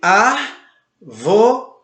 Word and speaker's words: árvore: Ou seja, se você tem a palavra árvore, por exemplo, você tem árvore, ela tem a sua antepenúltima sílaba acentuada, ou seja, a letra A é acentuada.